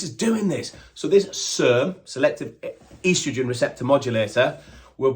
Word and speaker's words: SERM: Tongkat Ali has been found to be what they call a SERM. Yes, you're all thinking SARM and I've said it wrong. Nope, SERM. So a SARM is a selective androgen receptor modulator.